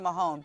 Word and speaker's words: Mahone: It's Lisa Mahoney or Lisa Mahone, but my heart goes out to her. How do you pronounce it correctly? Mahone, yes. Yes, Mahone.